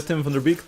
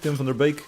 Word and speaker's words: Tim van der Beek: music was written by tim van der beek tim vanderbik if you pronounce his name in dutch so for more art